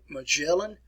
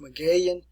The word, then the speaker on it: Magellan: know the way you've always learned how to pronounce it ferdinand magellan ferdinand magellan all right if you insist upon